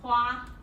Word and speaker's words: 花: flower in Chinese, and it's pronounced hua.